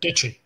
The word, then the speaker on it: Deitche: Is that how you pronounce it? Deitche. Deitche. Okay, yep. That makes it easier.